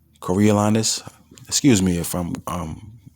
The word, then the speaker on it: Coriolanus: I know it's not no damn Cornelius. Coriolanus.